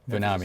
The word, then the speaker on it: Vanami: Vonamy was targeted early on. I feel like Vonamy was the most targeted. Vanami. Yeah. Okay, Vanami. On the middle syllable, yeah.